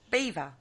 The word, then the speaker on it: Belvoir: you pronounce that kerry beaver is it yeah it's actually said beaver castle but it is spelled bellevoir castle all right yeah i